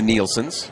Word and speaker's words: Nielsen: But yeah, Nelson, which is more English. Nielsen, which is down there for Eagle Point, that's more Danish. And then mine, which is Swedish.